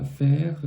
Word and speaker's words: faire: aucun aucun nouveau son ensuite on a faire là aussi très très enfin normalement en er à la fin d'un mot par particulièrement dans les veres par exemple ça va faire le son e on vous dit de ne pas prononcer le r ici c'est un peu une exception on va dire faire